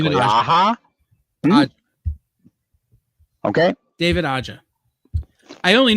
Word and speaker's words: Aja: I'm not going to be able to pronounce David's last name correctly. David Aja. Aha.